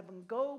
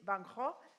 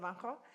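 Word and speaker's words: Van Gogh: We have the Van Go Museum. Vangho, that's how you say it. Vanho.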